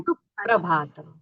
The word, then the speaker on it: सुप्रभातम्: हाँ, जो प्र आ रहा है उसको जरा उसके पहले अक्षर पर थोड़ा सा स्ट्रेस आता जोर है। देना है। सुप्रभातम जोर देके बोलना।